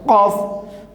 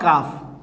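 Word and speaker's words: ق: one Qaf Zir Qi, Qaf Zir Qi, not Kaf. Okay, this one is Qaf. Now this one is, and this one is called Dui Noktawala Qaf, Dui Noktawala Qaf, Qaf Zir Qi.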